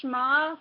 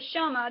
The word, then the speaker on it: Shma: at the fact that he pronounced shma wrong he called it the Sha despite their being no a between the H and the M now let's continue hzi